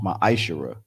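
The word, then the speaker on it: ma'aser: You can find this in Numbers 18 and 21 and Malachi 3, 8 through 10, means 10th in Hebrew and is pronounced ma'ashara.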